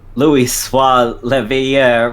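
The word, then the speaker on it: Louisoix Leveilleur: Louis Soir Leveilleur was a remarkable man.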